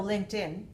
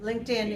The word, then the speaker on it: LinkedIn: We have link, and then we have tin. So LinkedIn. Right, LinkedIn is the way you should learn to hear it, right?